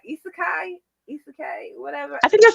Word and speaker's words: isekai: Isekai, isekai, whatever.